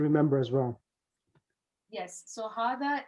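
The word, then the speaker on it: هذا: as well yes so hada is pronounced as harda even though it doesn't have an alif after the hay but it is written without the first ali yep arabic has no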